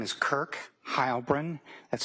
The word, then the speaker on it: Heilbrun: Yes, my name is Kirk Hybrin. That's spelled K I R K and then H E I L B R U N.